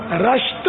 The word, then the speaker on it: رشت: اچھا وہ صحیح تلفظ جو ہے نا، امی جان کا مزار، روز پاک کی امی جان کا مزار، وہ ایران کے صوبہ گیلان کے صدر مقام رشت میں ہے. راہ پر زبر بتا رہے ہیں حاجی رضا.